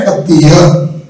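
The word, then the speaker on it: खत्तिय: में मिलता है, और उसका प्रोनाउंसिएशन है खत्तीय। क्षत्रिय नहीं, खत्तीय।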